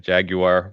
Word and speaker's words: jaguar: just like all right you pronounce that word differently than I do cuz you make it what two syllables instead of three right it's just easier jaguar versus Jaguar yeah no